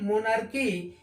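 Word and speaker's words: monarchy: आर सी एच आई मोनार्की यहां भी देखिए सी के बाद एच आया है तो सी का उच्चारण क हो जा रहा है लेकिन एच क्या है साइलेंट हो जा रहा है मोनल की ऐसे ही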